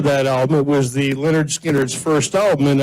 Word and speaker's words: Lynyrd Skynyrd: album, it was the Lynyrd Skynyrd's first album, and on the front, it said pronounced, and then it told you, and for some reason, Lynyrd Skynyrd. So to me, there'll always be Lynyrd Skynyrd.